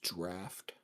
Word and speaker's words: draught: I'm guessing the word is draft. Oh, Yeah, that's draft. oh, draft of poison. Don't ask me why it's pronounced like that.